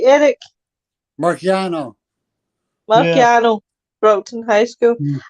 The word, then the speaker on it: Marciano: Boxer is Rocky Masona. Am I pronouncing that right, Eric? Marciano.